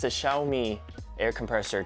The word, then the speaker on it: Xiaomi: make some improvement yes the brand name is pronounced xiaomi and you would not know that by looking